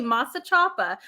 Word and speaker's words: Masachapa: think it says here a fishing village in masa chapa am i pronouncing that right or close yes you said it correctly masa chapa so one of the things when i first